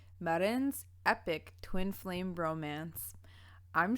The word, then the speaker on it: Marijn: Is your name pronounced Marijn?